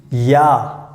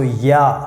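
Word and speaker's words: ja: yes then we use yeah yeah so here you can see j we pronounce like why so yeah so you have to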